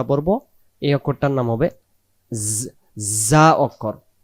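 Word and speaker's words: ز: এই অক্ষরটার নাম হবে জা অক্ষর। কেউ আমরা ঝা পড়ছিলাম, কেউ যাই পড়ি, হ্যাঁ, কেউ অনেক রকম ভাবে পড়ি, কিন্তু এই অক্ষরটা মাখরাজ যেভাবে উচ্চারণটা ঠিক সেভাবেই হবে, যেমন এই অক্ষরের সাথে আর অন্য কোনো অক্ষরের মিল না হয়।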